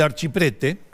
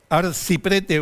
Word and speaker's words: Archiprete: El señor Fernando del Archiprete, arciprete o archiprete según lo pronuncia en italiano, ¿no?